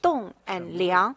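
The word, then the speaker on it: 栋梁: mean by you know in chinese it pronounced as tong and liang what does it mean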